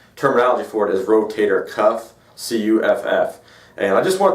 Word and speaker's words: rotator cuff: referencing the shoulder is the rotator cuff people commonly say it wrong which is okay you know they don't know any better but it's all a lot of times it's called the rotor cup or the rotator cup uh and again the